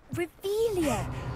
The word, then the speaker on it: Revelio: in the first place where are you rebellious saying it wrong uh revealia much better oh shut